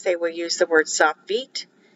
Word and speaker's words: sofit: will use the word soft feet it's pronounced f-e-e-t but it's spelled s-o-f-i-t here's another selection for